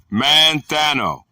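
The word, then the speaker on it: μανθάνω: The word is manthano. Wait a minute. This daggone demon. Yeah, it's 3129. Pronounced man than o.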